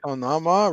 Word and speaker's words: Onama: Onama rhymes with Obama.